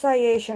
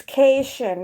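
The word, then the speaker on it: Caitian: called no she's not a citizen it's not pronounced sayatian i keep pronouncing it sayatian it's keishan or the cat people on star trek and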